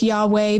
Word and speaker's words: Yahweh: but scholars are in pretty widespread agreement that yahweh is a decent way to pronounce it some think it's yahoo or yahwah but yeah i go with yahweh because it's the most commonly accepted by scholars